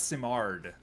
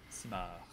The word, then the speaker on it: Simard: Well, that's what it looks I'll say the Glenn Simard, not Simard. You don't pronounce the D. Simard.